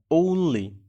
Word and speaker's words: only: কিন্তু দুইটা মিলে যে উচ্চারণটা হবে ওটা হচ্ছে ঔ।